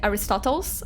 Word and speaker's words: Aristotle: I can find some Aristotalus. Aristotalus. How do you guys say his name in English? Aristotalus in Portuguese. I have no idea how you guys say Aristotles. Aristotle. how you guys say in English.